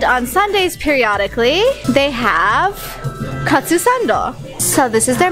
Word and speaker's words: katsu: it's in Japanese but it's the first two syllables it's katsu which we learned today till today yeah I